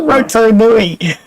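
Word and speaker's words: Rotonui: Rotanui, okay. That's how you pronounce it. Roto Nui. Roto being lake and Nui being two. Sorry, Nui is big.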